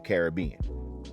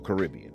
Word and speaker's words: Caribbean: from Africa and the Caribbean, or Caribbean, however you want to pronounce it.